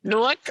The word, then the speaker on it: Newark: I'm live from the Newark, or as Bill would pronounce it, with his North Jersey parlance Newark Liberty Airport, and Bill will be joining me shortly.